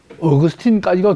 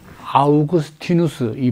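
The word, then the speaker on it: 아우구스티누스: 어 그러니까이 교부 시대가 말되면 쭉 이게 이제 어그스틴까지가 교부죠. 말좀음 아우그스티누스이 발음이 스태스 때문에 제가 영어식으로 어그순이라고 이제 한다만은 어이 교부 시대 마지막 주자라고 할 수 있죠.요 요 뒤부터 이제 말하면 중세가 된다고 말할 수 있습니다.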